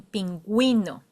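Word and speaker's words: pingüino: dots U and that those two dots says hey you have to pronounce this U. For example, in penuino.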